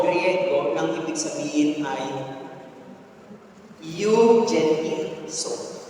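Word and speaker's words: εὐαγγελίζω: Evangelism is ay galing sa salitang Hebreo o Griego, nang ibig sabihin ay eugenizo. Ang pronunciation po niyan is euangelizo.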